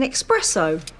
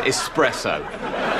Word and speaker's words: espresso: drinking coffee what type it's an expresso it is espresso stop it Tony you